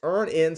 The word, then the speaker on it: Earnin: That's Earnin spelled like earning money without the G.